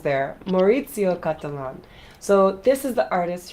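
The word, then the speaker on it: Cattelan: on hold on here hold on okay Maro catalon I knew I was I was missing a few syllables there morito catalon so this is the artist who made this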